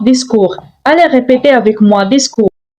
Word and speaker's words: discours: Attention, la lettre T à la fin est une lettre muette. Ne dites pas discours, mais on prononce discours.